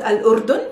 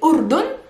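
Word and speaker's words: الأردن: or jordan arabic yes this country is called al-urdun an arabic all jordanians are called male and female because their country is called al-urdhan it's not called jordin jordan no no it's called or simply urdun and remember is a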